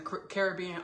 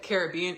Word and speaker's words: Caribbean: And I said Caribbean in front of her. She was like, Ashley, do not pronounce it like that. She's like, it's Caribbean. She said, it's Caribbean. No, she said it's Caribbean.